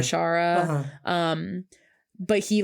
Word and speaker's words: Bashara: saying he like was mispronouncing their name as like Bashar instead of Bashara.